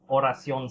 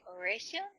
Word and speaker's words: Oración: There was the group Oración Seis. No one has been able to pronounce Oración correctly. Everyone's... Yeah, I always say like Oración? Everyone says Oración, but I'm like, that's not right. It's Oración.